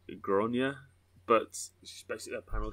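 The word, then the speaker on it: Gráinne: hard bollocked Maguire so I think it's pronounced like gronia but she's basically a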